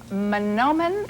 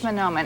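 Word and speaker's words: Mahnomen: 19th through the 20th manomen is that correct the correct way to pronounce that town Minnesota I think it's I think it's manomen and we have information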